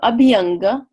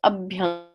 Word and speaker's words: abhyanga: just a beat Unger so there's just a thing called Sundy which means joining up to words a lot of times two words thing if one ends in a vowel let's say for example the next one starts with a vowel the vowels combine in different ways so Abhyanga Abby Unga becomes up young which is the application